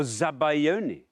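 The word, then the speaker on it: zabaglione: going to go for zabaglion zagon or zabayon as I have heard it pronounced um zabon zabon there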